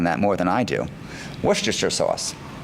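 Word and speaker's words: Worcester: And a final question, how do you pronounce uh I think you have to work on that more than I do. Worster sauce. Worster.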